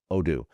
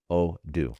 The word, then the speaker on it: Odoo: It is Odoo. Odoo.